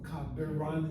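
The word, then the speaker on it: קברן: A kavran is a grave digger, or kabiran is a better pronunciation.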